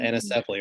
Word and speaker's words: anencephaly: And our first child died of a condition called anencephaly, or some pronounce it anencephaly.